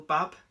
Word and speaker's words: Babb: Daniel Agger, Phil Babb, that's how you pronounce his name right.